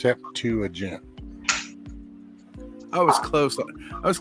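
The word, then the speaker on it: Septuagint: never i've ever known so it's pronounced sep to agent i was close i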